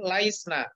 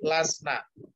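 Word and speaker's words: لسنا: Jadi bukan laisna, tapi lasna. Kenapa kok hilang ya-nya?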